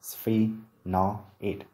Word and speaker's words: sphenoid: Phát âm của từ này là sphenoid, sphenoid, sphenoid. Trọng âm dưới vần thứ nhất.